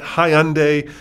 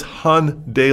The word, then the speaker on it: Hyundai: which is hyundai right it's not hyundai it's not hyundi it's not it's han day like sunday in america and it would be